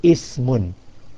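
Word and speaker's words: اسمٌ: So you would say Ismun and Ibnun.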